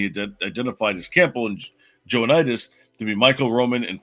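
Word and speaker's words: Joannides: Gordon Campbell, and George Joanides. Joanides. There you go. Sorry, I had to pronounce the 2 N's.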